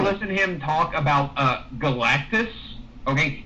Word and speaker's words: Galactus: Uh ever listen him talk about uh Galactis. Okay. He he pronounces it Galacticus. He he mispronounces that.